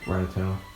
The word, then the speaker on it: Rattata: You know what I'm naming the Rattata? It's pronounced Rattata.